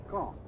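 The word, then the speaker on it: Caen: of gravity in these reported military operations is kong i'll spell that c-a-e-n the big city at the base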